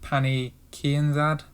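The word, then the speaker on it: Pannie Kianzad: Next one is Liana Jojoa against Pani Kianzad. That's how you pronounce it.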